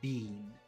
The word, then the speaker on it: been: of them so it's very normal for a Canadian to say Bean they make it very long bean but uh in the US most people will say Ben B very short so it's some some